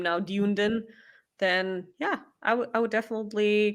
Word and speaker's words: Dunedin: Okay, so it's pronounced Dunedin, Dunedin.